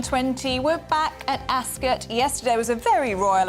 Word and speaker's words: Ascot: yeah yesterday I see I've always said Ascot and then yesterday they were all going to ask us and you have to say it with you that's good so I've been saying it wrong my whole life oh we're off to